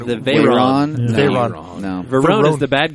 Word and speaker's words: Veyron: Verone. The Veyron. Veyron. No. Veyron is the bad guy from Fast and Furious. Well, Jesus. Well, the English pronounce it Verone, so I wanted to be fancy.